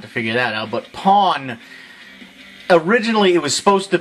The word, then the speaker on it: pwn: figure that out, but Pawn, originally it was supposed to be Pawn, P-W-N, you know, as in like the internet thing, but someone said that it's not pronounced pawn, it's pone, and I am not going near that war.